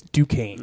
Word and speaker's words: Duquesne: Kind of like Novocaine, but it's Duquesne.